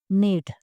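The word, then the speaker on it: knit: बुनना के इंग्लिश है नेट नीट इसमें जो के है वो साइलेंट है उसे नहीं पढ़ा जाना के इसमें साइलेंट है इसे नेट नेक्स्ट वन इज सीना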